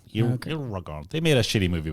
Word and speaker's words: Eragon: Yes, but it's spelled with an E. Oh, okay. Eragon. Eragon.